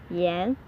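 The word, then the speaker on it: 盐: if you if you say yen that's a cigarette yen that's a salt so if you go to a shop and you want to get cigarette and they will give you salt if you pronounce the if you pronounce the um tone wrong and if you want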